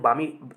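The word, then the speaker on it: balmy: यहाँ पे बाल्मी है, बाल्मी इसको पढ़ सकते हैं। बाल्मी क्यों पढ़ेंगे? क्योंकि बहुत लोग इसको जब बामी, तुम करेक्ट प्रोनाउंसिएशन इसका बामी पढ़ोगे और एग्जामिनर यहीं का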